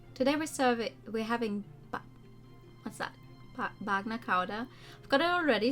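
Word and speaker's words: bagna càuda: Bagna Kauda. Okay. You actually pronounce it that way.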